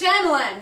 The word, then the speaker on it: Shyamalan: Night Shyamalan. It's pronounced Shyamalan, you ignorant bastard.